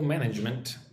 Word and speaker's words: management: So, cash flow management is one of our biggest challenges. Look at the word management. Management. 3 syllables. Gotta get the j sound.